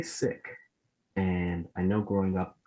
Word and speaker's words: Sikh: weeks leading up to this is you say sick and i know growing up a lot of people would say seek and so i just wanted to know you